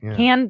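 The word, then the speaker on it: Cannes: is can yeah yeah I don't I can't pronounce anything can the can film festival there you go thank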